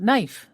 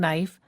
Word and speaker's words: knife: We don't usually say the K in words that begin with K-N. For example, knee, the joint between your upper and lower leg, and knife, the tool we use to cut things. So knee and knife start with silent K.